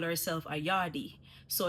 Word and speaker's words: yardie: But a lot of you guys out here are saying yardie. Like there's no R. I don't know where the R came from. Where did you guys get this R from? Remove that R and let's just stick with yard.